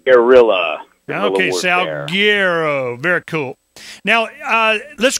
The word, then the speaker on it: Salguero: for me so everybody knows how it's properly pronounced sgo as in like Guerilla salero very cool now uh let's go ahead and